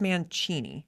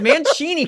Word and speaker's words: Mancini: No, it's Mancini because it's like Italian. I'm pretty sure it's Mancini. That's how I pronounce it, Mancini, because I like Italian.